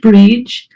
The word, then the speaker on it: Brid: ahead yes okay so my name is Bridge it's pronounced bridge I originally come from